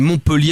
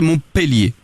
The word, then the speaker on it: Montpellier: la véritable appellation de on dit Montpellier avec un e mais que ça se prononcerait Montpélier.